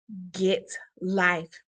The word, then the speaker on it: Git Life: The title of this show, Get Life Educational Empowerment, is rooted in my long time motto, Get Life. It is spelled GITLIFE.